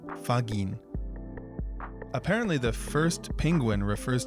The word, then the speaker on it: ファギン: So they take the first and last syllable and combine them, fagin.